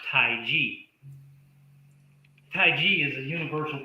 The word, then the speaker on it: Taiji: pronounced Tai Chi.